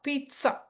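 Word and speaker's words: pizza: பீட்சா இட்டு வரும். பீட்சா. ஸோ எங்க நாங்க ப்ரொனவுன்ஸ் பண்றது பீட்சா.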